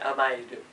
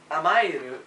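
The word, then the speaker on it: 甘える: here it's um am amay that's how you pronounce it amayu and amayu a m a r u is a concept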